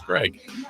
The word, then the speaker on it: Graig: someone wants to know it's Greg but it's spelled g r a i g g r AIG G